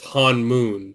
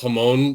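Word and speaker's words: Honmoon: It's not Hone. It's Hanmoon. Han. It's Hanmoon. Yeah. Just imagine. I genuinely thought it was Hone first and I watched it with subtitles and I was like, "Oh, it's Hanmoon."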